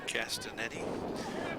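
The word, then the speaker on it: Castagnetti: be Castanet Isabella Castanet spelled c a s t a g n t TI casanetti with the silent G ball will the wind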